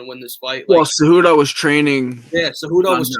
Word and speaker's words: Cejudo: But Henry Cejudo, is that how you pronounce his name?